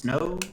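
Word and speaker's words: Snoh: uh her name is i think it's pronounced snow it's uh spelled s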